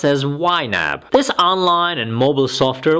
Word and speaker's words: YNAB: budgeting only there is you need a budget pronounced as yab this online and mobile software which is subscription